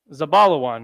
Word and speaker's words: Zebulun: how do we know because it's pronounced zabalawan right and this is